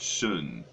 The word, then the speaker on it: Shen: No it's h like Shen means Spirit but you pronounce it shun you know so and